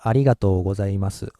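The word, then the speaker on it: ありがとうございます: okay it's arigato gozaimasu and you see I see an O and you connected in that case we usually pronounced it as ol bar so it's not oh and it's just all o just extend well so it goes arigato gozaimasu like flat stress okay but there's another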